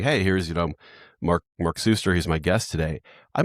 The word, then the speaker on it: Suster: So, I know it's Mark Suster.